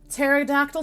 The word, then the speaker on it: pterodactyl: know what i forgot pterodactyl starts with a p there's a silent p at the beginning of pterodactyl and you know okay